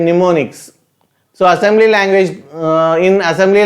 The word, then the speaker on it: mnemonics: Next comes to the mnemonics, M is silent, mnemonics.